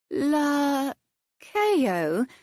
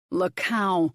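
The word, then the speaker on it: Laos: Lauo, he corrected somberly. Rhymes with cow, tiny South American country.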